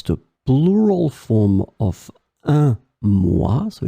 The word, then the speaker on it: mois: So here, as you can see, moi, it's the plural form of un mois, so it's quelques mois, des mois, but then we don't pronounce the final S, so that's the reason why you end up with the same phonetical form.